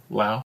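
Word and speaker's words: Liao: things like house Li how do you say it Lao Lao I've always said Le yeah I've always said Le but I've heard plenty of other people say Lao yeah um you know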